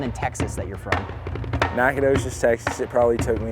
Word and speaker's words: Nacogdoches: did it take you to learn how to pronounce the town in Texas that you're from Nacogdoches Texas it probably took me until I was